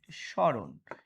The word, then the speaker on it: স্মরণ: যেমন দেখবা যে শুরুতে যদি ম ফলা থাকে তার উচ্চারণ হয় না। একটা নিয়ম। যেমন দেখো আমি বললাম যে স্মরণ। এবার দেখো এর সাথে কিন্তু একটা ম ফলা আছে। ম এর সংক্ষিপ্ত রূপটাই হচ্ছে কি? ম ফলা। তো এই ম এর কি উচ্চারণ কেউ করে? করে না।